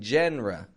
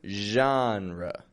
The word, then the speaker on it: genre: with Arts music movies now that word genre spelled with g n r e but it maintains the French Z kind of sound in the beginning I'm not saying JRE or Jenner but genre strong in the beginning